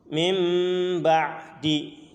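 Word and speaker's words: مِنْ بَعْدِ: huruf mim misalkan knapa mimba'di mimba'di aslinya kan mint sama ba Dee akan tapi kedengarannya mimbadi seperti Hara ada huruf mim ya padahal situ diantara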